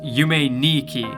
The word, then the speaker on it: Yume Nikki: point out in that the number two is pronounced knee in Japanese meaning that the name yumetuki is actually pronounced you may Niki but I see way